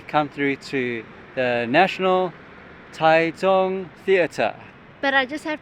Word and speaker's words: Taichung: so yeah definitely come through to the National taong Theater but I just have to say one thing in English you'd read it as Tai Chang but then next says taong so just so